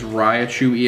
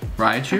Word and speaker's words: Raichu: Next is Raichu EX from EX Emerald with a 9. That's a nice looking card. Is that really how you say it? Raichu? I thought it was Raichu.